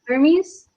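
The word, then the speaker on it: Hermès: is this H probably Hermes her okay right Naila you know your handbags okay so it is an Hermes okay not Hermes La Hermes you've got to even learn how to pronounce the name of this handbag because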